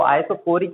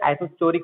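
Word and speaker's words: isochoric: हम जब पॉलिटेक्निक में थे वहाँ पे एक सर थे, वो आइसोकोरिक के बजाय आइसोचोरिक पढ़ते थे, आइसोचोरिक। तो आप आइसोचोरिक मत पढ़िए उसे, वो आइसोकोरिक है ना।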